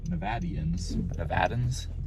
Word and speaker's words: Nevada: And according to native Nevadans, it is pronounced Nevada.